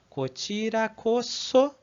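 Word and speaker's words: こちらこそ: Uma coisa importante aqui sobre pronúncia é que aqui o S, apesar de estar entre duas vogais, para o japonês isso não vai influenciar, tá? Então ele vai continuar sendo pronunciado como so, né?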